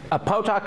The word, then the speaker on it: Potok: did I say your name right? What is your correct pronunciation? Potok is right.